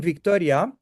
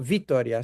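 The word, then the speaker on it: Vitória: So, um we are in Victoria or Vitoria, sorry. How how the Brazilian Brazilian pronounce.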